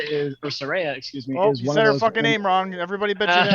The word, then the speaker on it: Saraya: of that promo well the positives are that Soraya is or Saraya excuse me is there a name wrong everybody keep going man